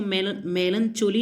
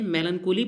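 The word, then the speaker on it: melancholy: मेलनकोली की हमें, मेलनकोली पहली चीज़ की, इसको मेलनचोली नहीं पढ़ते, मेलनकोली पढ़ते हैं।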